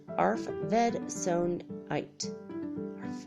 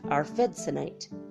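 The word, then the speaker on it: arfvedsonite: have I heard this ARF like a dog goes our food AR f ve D s o n ite are fed sound ight our fed tonight jolts you awake so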